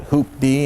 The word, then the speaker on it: hoopty: I was advised pretty early on that you pronounce it hoop-D, and you just put the D on the end.